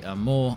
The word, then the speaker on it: Amur: Yes, Phase 4 has four Amandra-sized maps in the Amur Oblast region of Russia. Apparently you pronounce the Amur bit like the word for love in French, and to be honest, if you love snow, these maps will do you proud.